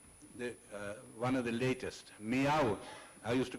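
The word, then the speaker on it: Millau: then this is the one of the latest meow I used to call it mil till was corrected it's pronounced I'm told as me Viaduct this is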